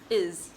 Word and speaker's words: is: The S is pronounced like the letter Z, is.